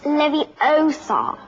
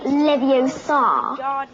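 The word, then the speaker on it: Leviosa: someone's eye out besides you're saying it wrong it's Levi Oar not liio you do it then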